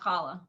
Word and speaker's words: challah: at least new york some people might can pronounce it holly bread is that a challah they said holly so more like holly but um is there